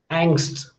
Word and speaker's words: angst: So you can sense this, that ng, k, s, t and s, these 5 consonants, they are coming so quickly that even how great or fine your ears are, you can't sense that these are 5 consonants, they are coming in the final position.